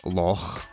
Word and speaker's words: loch: It's not lock, it's lock.